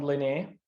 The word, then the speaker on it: Linné: Carl von Linnaeus, sometimes. Carl von Linné. Linnaeus, I've heard of Linnaeus. Oh, okay. Yes. God. Yeah. I need the terrible American pronunciation. Linnaeus. Yeah. Yeah. Sorry, Carl von Linné, or Carl Linnaeus, as Americans call him, was the botanist,